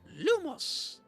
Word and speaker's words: Lumos: So, Lumos complete actions to fill up your star meter.